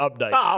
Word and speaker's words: Opdyke: the Quinn Drake you probably call uh Opdyke Road update don't you oh that's definitely update okay everybody knows that